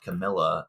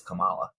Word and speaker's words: Kamala: name is Harris people I kept hear people pronounce it Camila and I looked it up and the proper pronunciation is Kamala Cala Cala Miss Harris we'll just call her